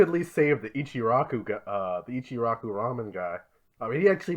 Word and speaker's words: Ram: It's Ram, right?